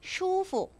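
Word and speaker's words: 舒服: 자 그다음에 B 그요 여러분 발음 어떻게 합니까 슈후 슈후 아고 합니다 자 슈후 편안하다는 뜻이고요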